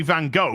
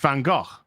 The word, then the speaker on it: Van Gogh: to say his name correctly I know you Americans say Van Gogh because you can't speak correctly but it's actually pronounced Van Gogh don't blame me my ignorance isn't you're ignorance